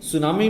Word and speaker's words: tsunami: 2004 को आ सुनामी, यहां पर देखिए सुनामी में टी जो फर्स्ट लेटर है ये साइलेंट है, इसको बोला नहीं जाता है, ठीक है। तो सुनामी शुरुआत कहां से करते हैं? एस यू से करते हैं। लिखने में आएगा लेकिन बोलने में टी साइलेंट रहेगा।